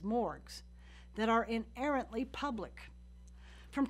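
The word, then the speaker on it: MMORPG: multiplayer online role-playing games which I'll pronounce as morgues that are inherently public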